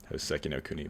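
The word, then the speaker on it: Hōseki no Kuni: Hisoki no Kuni. I'm going to say it. I forgot how to say it. Anyways. Hoseki no Kuni, but yeah.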